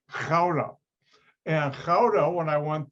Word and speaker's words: Gouda: Now, Americans pronounce that Gouda, where the cheese is from. The G in Dutch, the Netherlands, Dutch language, is not pronounced like an American G. The name of the city is really Gouda.